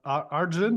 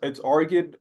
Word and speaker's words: Arjun: Arjun or Argin, what's the right pronunciation? I go by either. It's Argid by uh what I've been named, but I've heard Arjun.